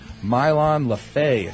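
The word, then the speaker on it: Mylon LeFevre: this Alvin Lee song also features mile on lafha that's the right way to pronounce it he is a musician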